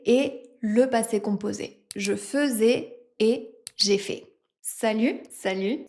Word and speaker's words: faisais: quand j'étais petite je faisais souvent des crêpes faisais a i s a I ait et c'est quoi ce a I qui se prononce e dans fait aujourd'hui je